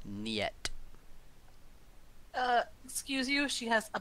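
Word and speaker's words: нет: nothing like it yet that's how you pronounce it nyet excuse you she has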